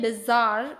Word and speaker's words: bizarre: Indian pronunciation इसमें बिजार ऐसे बोला जाएगा, और अगर ब्रिटिश की बात करूँ मैं, ब्रिटिश प्रोनाउंसिएशन की, तो दैट विल बी बजार, बजार।